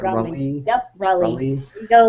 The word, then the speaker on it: Raleigh: Did I pronounce that right? Raleigh.